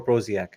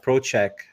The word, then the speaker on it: Prociak: say your last name is it prochek or prak to be honest I don't really know um I I say Pro Che but proch Che who knows I don't know I